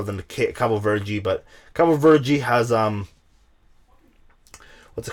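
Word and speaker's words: Cabo Verde: an english cape bird i always say cover virgie because that's the right way to say it ah meh i'm gonna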